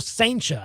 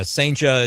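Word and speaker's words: Cijntje: Durangelo Saincha, I think is how you say the last name. I just saw one video clip though. It won't look like it's spelled, but yeah, Saincha is the video clip where he's saying the name himself.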